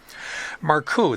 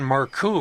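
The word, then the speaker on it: Markoe: Maru, that's spelled M A R K O E, had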